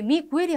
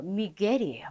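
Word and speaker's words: Miguel: 여기에서 미겔을 미구엘로 읽으시는 분들 너무 많아요. 근데 미구엘이 아니에요. 미겔이에요. 미겔. 미구엘로 된다면 요렇게 땅땅 이렇게 여기를 읽어주세요라고 해서 점이 2개가 딱 찍힙니다. 요럴 경우에는 미구엘이라고 읽어야 되지만 여기 이후에 점이 하나도 없어요. 그렇기 때문에 그냥 미겔 이렇게 읽어줍니다.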